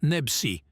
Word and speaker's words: Nebchi: Slimane Nebchi, prononciation française, Slimane Nebsi, né le 13 octobre 1989, est un célèbre chanteur et auteur-compositeur français.